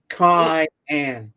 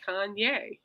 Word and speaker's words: cayenne: Cayenne. Nothing about cayenne. Kanye. Repeat after me. Cayenne. Cayenne. No, not Kanye.